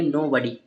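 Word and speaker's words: nobody: और यहाँ पर जो होता है ओ, ओ क्या रहेगा, यहाँ पर साइलेंट रहेगा। यहाँ वाला जो ओ रहेगा वो क्या रहेगा, साइलेंट रहेगा। और डी, ठीक है, डी से यहाँ पर बनाते हैं डा, और लास्ट वाले वाई से ई की मात्रा, तो पढ़ेंगे नो बडी।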